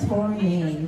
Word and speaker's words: Tornai: So my name is Tournay. That's with an H, and it's spelled Tornai.